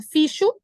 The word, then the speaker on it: fixo: um dos atalhos era toda vez que se estiver som de KS ali eu vou aumentar mais um alguém aqui fala fixo essa atividade é eu